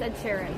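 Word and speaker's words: Ed Sheeran: Ed sharen M yeah what' you call him Ed Shireen wait was it Ed Sharon how do I say his name I don't know Ed Shireen it's Ed Sharon Eder Ed Sheran Shar oh whatever in France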